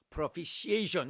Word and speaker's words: propitiation: propitiation, 요 T 발음을 안 해요.